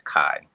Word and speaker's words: Kai: just want to say the way you pronounce my name is Kai Kai I always say key Kai and that's your name